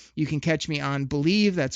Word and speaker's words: BLEAV: You can catch me on Believe, that's spelled BLEAV in Lions, on Thursday mornings with Benny Blades.